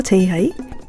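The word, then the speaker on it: 지민아: 그 뒤에 아라는 발음이 옵니다. 그러면 알파벳으로 JIMIN 뒤에 A가 와요. 그러면 여기서 N 뒤에 붙은 N이 뒤에 붙은 A하고 같이 발음돼요. 그래서 JIMINA가 되는 거죠.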